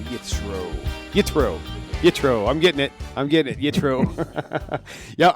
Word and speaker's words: Yitro: Yeah, I think what happens is I've been hearing so much of the Ashkenazi thing, and it's like they pronounce... You've been around too many Ashkenazi. Yeah. It's really, hang out with us Sephardim a little bit.